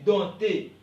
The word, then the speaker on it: dompter: pas on dit baptême on dit dompter P ok ne se prononce pas on dit donc ok